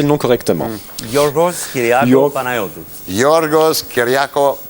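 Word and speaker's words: Panayiotou: Ça ne poserait pas de problème, mais il faudrait que tout le monde apprenne à prononcer le nom correctement. Yorgos Kyriakos Panayotou. Yorgos Kyriakos Panayitou. Panayotou.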